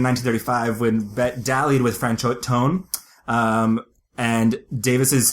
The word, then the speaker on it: Franchot Tone: Franchot Tone? Franchot Tone. Which literally sounds like a trombone.